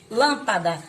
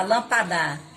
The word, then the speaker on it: lâmpada: Então, vocês vão ler lâmpada. Se não tivesse o acento, ficava lampadar. Lampada. Ó, lampada. Então, lâmpada. Eu falo essa sílaba, eu falo ela mais forte.